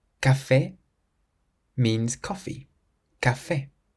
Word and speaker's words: café: C plus A, O, or U is pronounced like a K. If you see the letter C in front of an A, an O, or a U, then you pronounce it k.